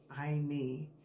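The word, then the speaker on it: εἰμί: I me. So it's spelled e i m i i me.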